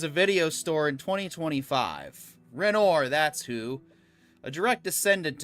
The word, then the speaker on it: Renoir: Renoir, pronounced Renoir because that's how you say it in English.